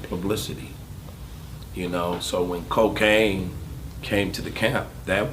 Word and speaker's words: Kokane: become a dick thing this is cocaine not spelled with the CLC a I&E but the K okay ane and when you hear